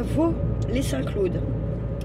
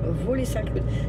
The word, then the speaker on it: Vaux-les-Saint-Claude: Donc là on est à Vaux-les-Saint-Claude. Vaux-les-Saint-Claude. Ça s'écrit avec un X, Vaux, V-A-U-X.